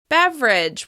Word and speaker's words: beverage: While some people may say it with 3 syllables, beverage, it's very common to say it with just 2, just like chocolate.